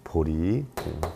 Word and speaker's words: 보리: 보이 이렇게 했는데 어 글자는 제 자죠 제자 제자인데 우리 불교에서는 이것을 리라고 읽어요 그래서 보리 보리도는데 길이 되는 얘기죠